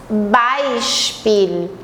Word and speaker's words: Beispiel: EI, a gente vai fazer I, e o IE é um I longo. Então, é interessante também ver a pronúncia do EI e do I longo, ok? EI, by, Spiel, e é um I longo e o L lá em cima.